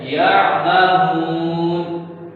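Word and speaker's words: يَعْمَهُونَ: आगे है यअमहून। अब या के साथ आइन है, आइन के बाद निकालनी, आगे मीम है और आगे दोबारा हा आ गया। ठीक, आगे है यअमहून, नून को साइलेंट करना, यअमहून। यहाँ हमारी 15वीं यूनिट से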